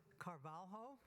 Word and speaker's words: Carvalho: Next up is Carvalho. Did I get that right? Say it. How do you say it? Carvalho, thank you, who's a research fellow for the